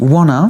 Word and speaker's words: wanna: On fait pas le T, on dit wanna, et le to n'est jamais prononcé to dans la langue orale, il est prononcé t, il est réduit.